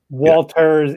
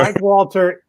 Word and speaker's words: Walter: Peter, please say that slowly because it sounded like you put an S on the end of my name. No, I did not. Walters is back.